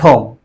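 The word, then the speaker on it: comb: As the examples are no, psychology, and com. जैसे कि पहले एग्जाम्पल में K silent है, and in psychology P is silent, in com B is silent.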